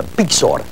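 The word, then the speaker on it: byxor: I'm trying to pronounce it properly for you. Bixor.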